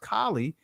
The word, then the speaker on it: Kali: Remember, Beyonce had a video out where she had Kali spelled with an E at the end, but it's still pronounced Kali, and she was doing the Kali dance of death, which is a sexual ritual.